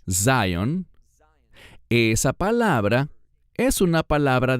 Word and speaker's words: Zion: Bueno, la palabra Sion, que en inglés se pronuncia Zion, esa palabra es una palabra de reino.